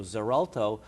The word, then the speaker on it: Xarelto: this drug is called zerto it's it's it's pronounced with a z sound but it's spelled with x x a r lto so zerto or the generic name